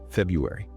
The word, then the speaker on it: February: In modern conversational English, almost no one pronounces that first R.